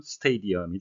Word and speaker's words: stadium: 우리말로는 스타디움이라고 쓰기도 하는데요. 영어식 발음은 스테디엄이 되겠습니다.